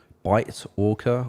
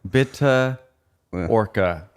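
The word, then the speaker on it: Bitte Orca: like bitter bitter yeah it sounds like bitter bitter with the with the uk accent bitter orca yeah um stillness is the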